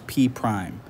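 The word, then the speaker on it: P′: different so I put an apostrophe after the p and we pronounce that as P Prime so P Prime is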